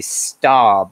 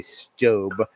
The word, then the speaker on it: Staub: website it's i mean it looks like it might be starb or staub but it's actually stobe but anyway um i